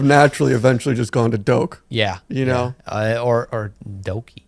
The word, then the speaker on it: Doke: myself my name uh this this is the pronunciation my friends are till this day they are calling me doke wow and uh yeah but it didn't really